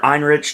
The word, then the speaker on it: Ehrenreich: Alden Ehrenreich. Or Einrich, depending on how you want to pronounce it.